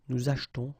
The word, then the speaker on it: achetons: Okay, after that, nous achetons, vous achetez. Remember this here is silent or mute.